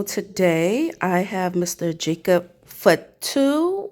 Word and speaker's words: Fatu: Jacob Fatu or Fetto. How's that pronounced? Fatu. Fatu.